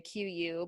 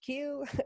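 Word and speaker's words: Qu: u series it's pronounced q lots of people in the americas like to say q u but since i joined the team it is pronounced q uh they have several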